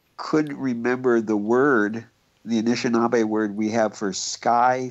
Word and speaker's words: Anishinaabe: But in our language, it's Anishinaabe.